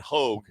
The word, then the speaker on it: Hogue: Right now we got Hogue, Hogue. That's how you spell Hogue. All right, with a silent U.